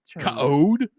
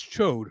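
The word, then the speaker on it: Ch'od: chode CH apostrophe OD how else are you supposed to pronounce that yeah code Cod Chad no it's chode let's be honest Chad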